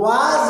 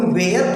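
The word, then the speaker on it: was: वाज होता है pronunciation, वाज verb. अब तुम वेयर पढ़ते आए हो, तो अब ये अपनी प्रॉब्लम सॉल्व करो, ठीक है ना।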